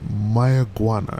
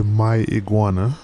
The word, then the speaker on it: Mayaguana: we're heading over to my iguana i believe that's how you pronounce it uh and i didn't say my iguana like the lizard i think that's how it's pronounced my iguana bahamas which is basically